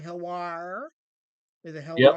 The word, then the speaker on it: HELWÄR: HELWÄR. Is it Yep. HELWÄR?